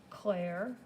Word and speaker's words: Clair: This color is called Blue Cerulean Clair, as in clear, I think. No, it's spelled like Clair.